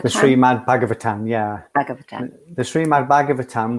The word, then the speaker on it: Srimad Bhagavatam: So book number 2, I'm not sure how to pronounce this. Srimad Bhagavatam. The Srimad Bhagavatam, yeah.